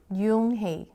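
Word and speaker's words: Unhei: she nodded slowly yes it pronounced Jung HEI and it means Greece Mr Kim's added he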